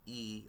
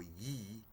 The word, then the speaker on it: Yi: That I up there actually is pronounced e or yi.